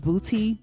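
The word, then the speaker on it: BPOTY: My next track that, you know, stood out to me was Booty. I think I'm saying it right, but it's it's spelled b p o t y featuring Too Short.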